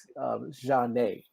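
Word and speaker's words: Zhané: the term had quote unquote been coined, is Jane, and that's spelled Zhane, and it was amazing to me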